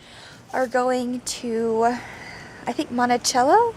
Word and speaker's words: Monticello: I think that's how they pronounce it up here. I've heard it do different ways, Monticello and Monticello. Down our area, we've got one as well. Two actually, that are two cities, so they're both pronounced differently.